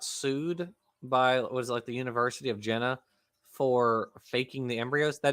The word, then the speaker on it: Jena: I'm sure I'm mispronouncing it. It's Jena. Jena.